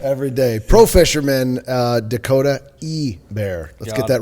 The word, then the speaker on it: Ebare: It's like hay bear.